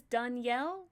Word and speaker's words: Danielle: I Well, I always tell people in English, I just pronounce it like the female version of the name, and it sounds closer.